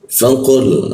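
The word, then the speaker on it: فقل: ada busan seperti itu ti faqul nah faqul fa di faqu ku qu di mana diet pengarokan lidahnya dinaikkan sehingga udara terkunci dan tidak ada hembusan udara qul nah seperti itu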